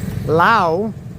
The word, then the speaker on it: Lao: And something I've noticed almost immediately, I haven't seen one Lao, that's saying it correctly, I haven't seen one Lao flag.